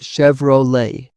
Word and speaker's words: Chevrolet: I noticed people say Chevrolet with an English ending. The French origin makes it Chevrolet, not Chevrolet.